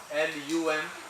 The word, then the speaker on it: Lam: So Mooladhara mantra is LUM, L-U-M or L-A-M, whichever way you find the sound. So Mooladhara mantra, Bij mantra is L-A-M. Pronunciation is LUM.